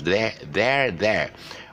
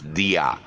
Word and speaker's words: there: So this is pronounced as dia, but actually it's wrong. It's pronounced as there.